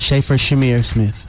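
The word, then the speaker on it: Shaffer Chimere Smith: How do you pronounce um your name? It's Schaefer Smith. Schaefer Shamir Smith.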